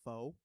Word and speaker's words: pho: The pho drives me nuts because I've been to Vietnam and people here call it pho.